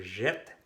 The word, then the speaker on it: jette: Cuando vienen dos letras así, la E se pronuncia como E. Tal como el verbo appeler, que era j'appelle, aquí es je jette.